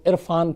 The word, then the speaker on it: इरफान: असल में इरफान को अपना ये जो प्रोनाउंसिएशन है जो निकलता है वो ज़्यादा पसंद था, तो उसी को उस पर दबाव डालने के लिए RR लगाया, तो इरफान।